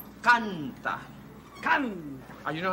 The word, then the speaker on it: canta: You say canta. Canta. You know how it's spelled?